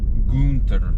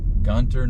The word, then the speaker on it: Gunter: Texas gun t r Gunter probably originally pronounced gter but it's definitely pronounced Gunter now trying to turn around